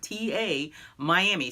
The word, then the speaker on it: Tamiami: Sarasota Florida area and Tamiami runs from Tampa which is the TA part to Miami so it's felt aa TA Miami so it's Tamiami is